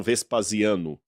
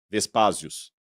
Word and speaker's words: Vespasiano: Por exemplo, eles não falam Vespasiano, Vespásios.